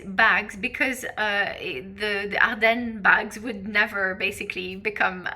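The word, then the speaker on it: Ardennes: Uh, right, the next one is Arden. Uh, so I'll pronounce it again. Arden.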